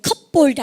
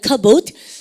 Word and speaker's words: cupboard: 그 다음, 이거 발음할 때 찬장 그릴 때 컵볼드 아니에요. 피 발음 묵은 발음가 cupboard.